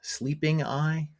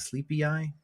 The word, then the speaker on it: Sleepy Eye: I said uh sleeping eye instead of sleepy eye.